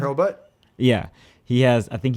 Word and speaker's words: Hurlbut: I 'Cause think I'm pretty Shane Helbert had. Did I say his name right? His last Shane name? Hurlbutt.